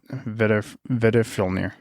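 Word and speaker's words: Veðrfölnir: It's pronounced like a D. Oh, like Nidhogg. Vedifilnir.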